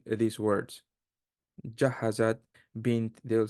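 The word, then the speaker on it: بنت: Bint will not be bant, bunt. It will never change. It will always be bint.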